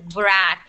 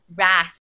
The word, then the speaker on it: wrath: like you don't say wath like if that's what you're asking you don't say wath it's wrath okay yeah okay yeah